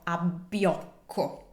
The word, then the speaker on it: abbiocco: Now, as any word with double consonants, you need to make sure that you pronounce them. So, abbiocco.